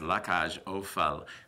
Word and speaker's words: La Cage aux Folles: definition of la casual fault and how to pronounce it as la cash Oh FAL but it actually translates into the cage of